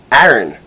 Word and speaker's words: Aaron: So I often say my name, Aaron.